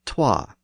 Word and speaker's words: twa: and The Vow so the word so was originally SWA and the number two was originally TWA of course the word